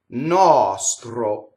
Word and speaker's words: nostro: Nostro. Okay, so this is an open O. Nostro. Okay, notice that the R rolled because it touches a T, right?